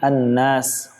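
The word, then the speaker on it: النَّاس: Yang berikutnya kesalahan yang sering terjadi adalah pada kalimat an-nas. Di sini ada hukum namanya mad arid lisukun, yakni apabila ada mad tabi'i bertemu dengan huruf setelahnya yang disukunkan atau yang dibaca waqaf, membacanya dengan diberhentikan. Maka ada 3 cara baca. Yang pertama dengan membaca kadar panjangnya 2 harokat. Yang kedua membacanya dengan kadar panjang 4 harokat. Atau yang ketiga membacanya dengan 6 harokat.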